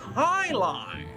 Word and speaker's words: jai alai: heck is jai alai it's pronounced Highline what the heck is